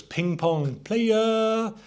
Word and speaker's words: Ping Pong Playa: Also released in 2007 was Ping Pong Playa. And you actually have to say it like that because that's how it's spelt.